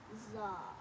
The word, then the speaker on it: czar: C is for czar. C is for czar. So The fascinating czar is secretly part Z.